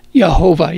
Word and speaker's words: Yehovah: There's no J's in Hebrew, so it's more properly pronounced Yehovah Jireh.